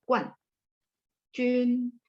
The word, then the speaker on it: 冠军: Cuman ini harus dibaca Guan Jun. 什么是冠军? Guanjun adalah juara 1, champion. Tapi dibacanya harus nada 4.